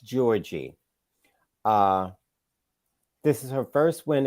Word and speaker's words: Giorgi: Venus won against Camilla Giorgi. Her name is pronounced Georgie.